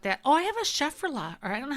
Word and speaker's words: Schefflera: Oh, I have a Schefflera, or I don't know how to say it. Schefflera. It's Schefflera.